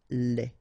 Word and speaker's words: lait: Lait. Un lait. Okay, so the only difference is final thing here, D, you don't pronounce it, T, you don't pronounce it, so phonetically you only have this le.